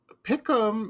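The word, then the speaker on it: PICAM: Pium is spelled P-I-C-A-M, and that stands for Products International Company Advertising / Marketing.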